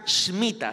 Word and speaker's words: Shemitah: Porque el 2022 es un año Shemitah, así se dice, o para nosotros, Shemitah, pues, pero se pronuncia Shemitah sin la E.